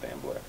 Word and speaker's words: Stambler: It's pronounced Stambler. Howard Stambler.